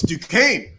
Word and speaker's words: Duquesne: is the duck Duke and I can't even pronounce that oh it's Duquesne yeah I do Duquesne Dukes okay all unions